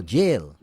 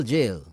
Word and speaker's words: gaol: Gaol was pronounced Gaol or jail. Right. Royal Jail.